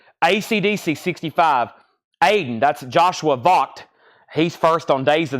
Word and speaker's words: Vogt: Aiden, that's Joshua Vogt. He's first on Days of the New. Or actually, that's pronounced Vogt.